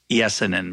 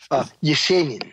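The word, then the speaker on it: Есенин: Of I would pronounce it Yesenin, but Yesenin.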